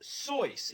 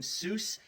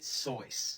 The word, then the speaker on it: Seuss: You're wrong as the deuce, and you shouldn't rejoice. If you're calling him Seuss, he pronounces it Seuss.